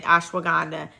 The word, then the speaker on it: ashwagandha: That is a constituent or the property within ashwagandha that makes it effective. So, um, it's so funny. I see people pronouncing that all different types of ways. Organ, but it's ashwagandha.